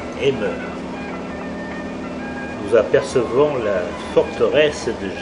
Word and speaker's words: Amber: Nous allons nous rendre à la citadelle d'Amber, qui se prononce Emmer.